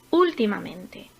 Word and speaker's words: últimamente: Últimamente. Últimamente es una palabra sobreesdrújula, ya que tiene la sílaba tónica a partir de la cuarta posición, en este caso en la quinta. Zapato.